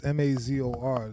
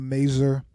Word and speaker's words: Mazor: Jae Mazor, that's Mazor. That's Mazor. It's a little French. It's not Mazor. It's not Razor. It's not Mayor. It's Mazor.